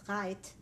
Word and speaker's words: Rheydt: I was born in a small city in West Germany in the Rhineland called Reit. It's spelled R-H-E-Y-D-T.